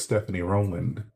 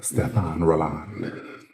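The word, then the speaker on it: Stéphane Rolland: For a while I thought it was Stephanie Rowland. That's to pedestrian. And thanks to Jackie Aina. I know it's pronounced Stefan Roland.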